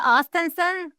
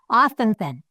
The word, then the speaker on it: Ostenson: Is it Ostenson? Yeah. Okay. It sounds like it's spelled. I usually actually say the name first just to make sure I got it. So, Ostenson.